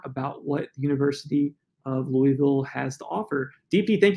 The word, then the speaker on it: Louisville: more about what the University of Louisville has to offer DP thank you so much